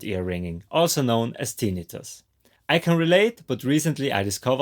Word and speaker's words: tinnitus: The second thing, there is a debate whether it's correct to say tinnitus or tinnitus. I will stick with tinnitus because that's how you say it in German.